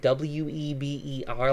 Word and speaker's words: Weber: Max Weber that spelled w/e BER like the grill but it's pronounced Weber because it is German I used to say